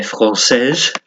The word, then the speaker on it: français: There's an example of the E at the end of the adjective changing the pronunciation. So if you said il est français, if it's a he, then it'd be il est français. But it's because she is, elle est française.